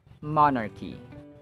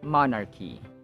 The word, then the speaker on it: monarchy: but this word is monarchy Cy or ch is pronounced as k as in monarchy monarchy yada yada max max